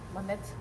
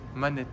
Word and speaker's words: Monet: Or Manet, if you want. Since Russia pronounces O like A's, Manet. Yes, I read all letters what I see.